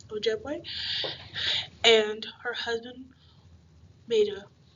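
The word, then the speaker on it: Ojibwe: in her native language I believe you pronounce it o jeway o jeway and her husband made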